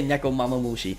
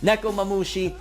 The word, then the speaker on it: Nekomamushi: mushi neck I used I used to say neck oh mama mushi nekomamushi and inuarashi how the